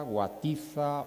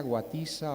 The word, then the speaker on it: Guatiza: yaiza guatiza órzola zonzamas que de tanto ver los escritos como los acabo de pronunciar con z llegamos a pensar que esa es su verdadera naturaleza Pero no es así debajo de esa falsa grafía existe eso que los lingüistas llamamos un fenómeno de ultracorrección consistente en este caso en creer que la pronunciación canaria yaa guatia orsola sonsas no es sino efecto